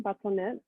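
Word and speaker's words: bâtonnet: what we call them basonet it's the french pronunciation because this is all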